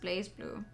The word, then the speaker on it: BlazBlue: of all that wreckage blaze blue and it is pronounced blaze blue but it's written without the e that you would normally put in place i still don't know